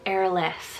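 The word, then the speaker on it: Eirlys: for Welsh names so I have the name airless spell e-i-r-l-y-s now this is a well-shruted name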